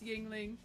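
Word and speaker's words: Yuengling: for him it's like no no no it's Yingling it's Yingling we don't know how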